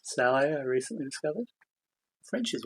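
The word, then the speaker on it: sallet: I believe uh German Saleh uh written salad pronounced Sally I recently discovered French is weird um but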